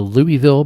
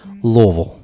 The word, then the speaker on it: Louisville: did you call it the louisville bourbon scene wrong oh my bad louisville there we go indiana say it right